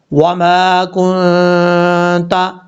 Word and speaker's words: وما كنت: مقدار لمبا کریں گے، کاف کے بعد جو نون ہے، نون ساکن ہے، نون ساکن کے بعد تا ہے، یہاں نون ساکن کا اخفا ہوگا، یعنی ایک الف کی مقدار غنہ کر کے پڑھا جائے گا، وما کنت، اس طریقے سے۔ اب ہم پڑھتے ہیں